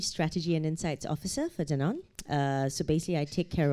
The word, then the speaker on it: Danone: to say this wrong because I'm an American, Danone. Wrong. Very close. Close enough. What's the right way to say it? It's Danone.